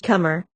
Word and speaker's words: conber: These were abar inver and conber pronounced in Welsh cumber in Gaelic cumber.